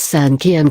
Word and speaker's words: cinquième: Examples: mère, meaning mother, is pronounced mère cinquième, meaning fifth, is pronounced cinquième.